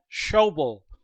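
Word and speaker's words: Schobel: is picking up five show bull rhymes with george goble making the tackle at the 48.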